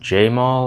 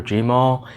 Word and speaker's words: Jemall: so the seller is I believe it's pronounced Jaimal or jamal it's a je ma ll their links will be